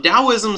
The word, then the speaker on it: Daoism: two different religions um Daoism sometimes is spelled t AO i m with a t and sometimes with a d but it is pronounced as if like da like uh some you've